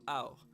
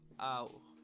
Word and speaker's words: 青: 青、 So ow. That's that A sound in the beginning and the O. So ow.